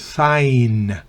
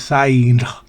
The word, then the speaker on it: sign: Sign. No se pronuncia la G, se da cuenta. Sign. No es sign.